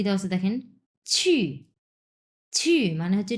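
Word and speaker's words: 去: word পড়বো আমরা নিউয়ার্ড কি দেওয়া আছে দেখেন ছি মানে হচ্ছে টু গো এটা হচ্ছে ছ এর উচ্চারণ এটা কিন্তু ছি আমরা বাংলাতে যে ছিছি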